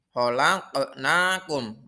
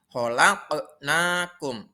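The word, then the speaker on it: خلقناكم: Kalau kalian lihat di layar kalian ada huruf qaf yang mati di tengah kalimat. Khalaqnakum. Maka cara membacanya yaitu harus dipantulkan huruf qaf yang mati itu. Khalaqnakum. Itu yang benar, tidak boleh khalaqnakum. Salah. Harus pantul.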